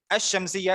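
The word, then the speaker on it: الشمسية: अश-शम्सिया, इसमें हमने क्या किया? लाम को साइलेंट कर दिया, अलिफ को डायरेक्ट शीन के साथ मिला दिया.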